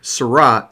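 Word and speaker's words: Seurat: island of legranja remember sarat rhymes with dot when you're thinking of pointillism okay i'm going to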